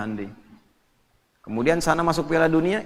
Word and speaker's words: Hyundai: Jepang bikin Honda ya Korea bikin hundai Hyundai bacanya hundai kemudian sana masuk Piala